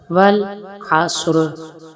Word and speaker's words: والعصر: بسم اللہ الرحمن الرحیم۔ والعصر، والعصر صاد کو موٹا کریں گے۔ والعصر ان الانسان، ان